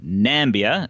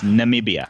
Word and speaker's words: Namibia: Jeff is definitely closest, but this is a country that Donald Trump called Nambia. It's Namibia.